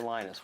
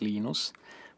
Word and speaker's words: Linus: Torvalds came along glennister linus what's exactly your preferred pronunciation when I speak Swedish it's heinous speak Finnish it's Lino's when I speak English its Linus and I really don't